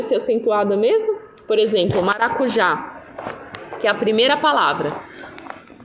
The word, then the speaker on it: maracujá: para diminuir aqui tá então a palavra maracujá você vai acentuar o já certo é um maracujá Tá vendo como a sílaba mais forte e é oxítona né então é isso Pessoal